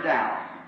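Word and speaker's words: Daugh: Not really in his name, he's a German, D-A-U-G-H, and I pronounce it Dow, see.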